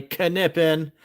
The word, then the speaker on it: Knippen: My beautiful scorekeeper, Knippen with a hard K. Say it right, everybody. Knippen.